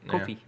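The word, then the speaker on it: Ko-fi: Yeah, Kofi.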